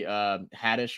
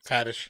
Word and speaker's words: Haddish: interview with I think it was with Tiffany Haddish or Hadish. I don't know how to pronounce her last name. Haddish.